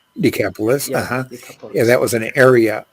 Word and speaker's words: Decapolis: went away and began to Proclaim in the decoupled decapolis right decapolis yeah that was an area of 10 cities